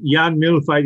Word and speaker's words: Jan Mühlfeit: So welcome, Jan Mühlfeit. I hope I've got the surname right again. That's okay. Yeah, it's a very, tough to pronounce it. Jan Mühlfeit is the right, Jan, but it's a German name, I struggle.